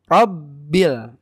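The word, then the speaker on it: رَبِّ: sukun kan gitu ya makanya cara bacanya sedikit ditekan rabbil rabbil tapi jangan berlebihan Jangan Robert enggak juga yang penting kena penekanannya rabbil seperti itu ya alamin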